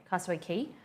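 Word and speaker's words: Castaway Cay: island in the Bahamas called castaway k but pronounced key okay Castaway key I went to Nassau not many good okay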